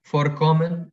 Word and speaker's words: Vorkommen: Vorkommen, ocurrir. Vorkommen. Mientras que los verbos inseparables, estos dos eran separables. Y aquí viene colación por lo del acento. Tienen el acento en la primera sílaba.